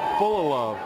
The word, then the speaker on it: Fullilove: And I am pronouncing that name right. It's Trey Fullilove, F-U-L-L-I, Love, L-O-V-E.